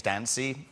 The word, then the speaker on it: Dancy: I think the truth is that when your name is Dancy, pretty early on, people realize it rhymes with fancy.